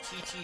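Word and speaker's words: Qiqi: We're talking about Chi-Chi if you spell it Q-I-Q-I.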